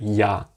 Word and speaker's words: я: The English equivalent of this would be like if you want to say the word for yacht, as in the big boat, yacht. The first one, how you pronounce the Y and the A after each other, ya. ya, ya.